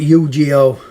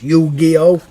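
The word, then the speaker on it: Yu-Gi-Oh!: games are this is i used to pronounce it eugeo uh but as usual i've been pronouncing wrong you gio the duelist of the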